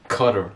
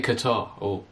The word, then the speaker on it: Qatar: YouTube or Google pronunciation you say cutter but that's wrong anyway I say Qatar Qatar mr.